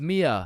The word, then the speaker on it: Mia: Wait, what the Is is Maya present? Uh, it's it's Mia.